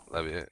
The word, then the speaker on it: Libya: like there's heavy floods in, I don't know how you say it, Libya? Is that how you say it? Yep. Libya, yeah, like Lebanon and all those places.